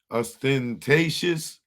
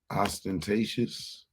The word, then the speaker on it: ostentatious: Mrs ventor into US austentatious ostentatious I don't know what this word it is I got to find it I need to know what that mean ostentatious that's how you pronounce it characterized by vulgar or